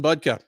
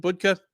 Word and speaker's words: Budka: Andre Petroski versus Dylan budka and I I think they pronounced it buka either way buka uh fresh from a